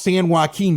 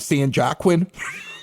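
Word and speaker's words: San Joaquin: ahead of time right I mispronounced San haqin Valley the first time I was doing radio out in Bakersfield California called it San jaquin like somebody somebody should have told me I don't know I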